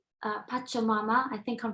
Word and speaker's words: Pachamama: album um mother earth and it's called uh pachomama i think i'm pronouncing it right esther would you do you